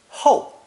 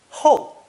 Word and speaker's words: 后: It's pronounced fourth tone, ho, ho.